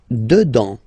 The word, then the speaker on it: dedans: Dedans. Final S not pronounced. Dedans, dedans.